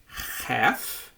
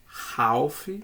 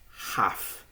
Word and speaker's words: half: Esse L, ele é mudo, certo? Então, a gente tem duas opções. Você pode dizer half, né?